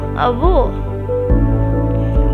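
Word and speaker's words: avô: A VO. But grandfather sounds different. He is a VO. A VO. See the sound is closed and deep.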